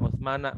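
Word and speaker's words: عثمان: wa an Utsmana bacanya ya, karena Utsmana itu adalah isim ghairu munsharif. Jadi bacanya Utsmana ya.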